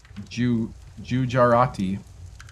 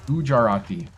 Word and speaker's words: Gujarati: Gujar I was trying to say the J and the U at the same time. Gujarati. Gujarati is how you say that.